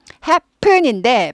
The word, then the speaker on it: happen: happen인데 발음은 푼보다 happen 해야지 고급 발음이 됩니다. happen보다 happen. 예, 쌍비읍 발음하고 비슷합니다. 그래서 happen, 경음화, 된소리화 됩니다. 발음이.